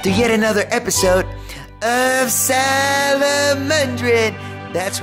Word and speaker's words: Salomondrin: Welcome back to yet another episode of Salomondrin. That's right, that's how I pronounce it.